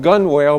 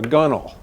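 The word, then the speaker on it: gunwale: Sailors call it folkal it's spelled gun whell but you're supposed to call it a gunel and you don't climb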